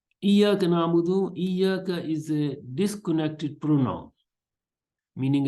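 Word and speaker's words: إياك: in the variant readings, it has been also been pronounced as ayyaka instead of iyyaka, ayyaka bi fathil hamza, yani with the fath, with the on the hamza, and also as hayyaka with ha.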